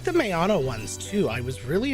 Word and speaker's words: Maono: No, it's pronounced Maono.